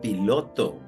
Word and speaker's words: pilot: Pi, Lot. Ok, entonces la primera sílaba termina en vocal y tiene el sonido abierto. Se pronuncia pie. Y la segunda sílaba termina en consonante, tiene el sonido cerrado. Lot. Pilot.